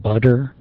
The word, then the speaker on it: butter: Oftentimes a T at the end of the word is glottalized, and oftentimes it, like in the word butter, it's pronounced butter. It's pronounced as a D.